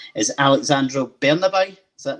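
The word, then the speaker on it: Alexandro Bernabei: and i know i'm going to get his pronunciation is alexandra bernabeu is that right yes exactly exactly yeah so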